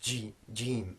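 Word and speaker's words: ج: So it is a hard sound, jeem, for Jack and Jim.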